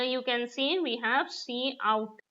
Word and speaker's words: cout: Now here you can see we have C out, right? It is pronounced as C out, and it is an